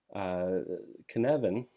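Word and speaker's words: Cynefin: the applications of that can Evan it's spelled sin ofin but can Evan is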